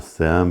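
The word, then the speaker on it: SIEM: is a Sim solution it's pronounced Sim but it's spelled s-i-e-m and it stands for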